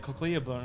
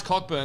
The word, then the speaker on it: Cockburn: His last name's Cockburn. Won't even pronounce it. Like Cocklearburn or something like that. They won't pronounce Cockburn. It's like, it's fine. Just pronounce it.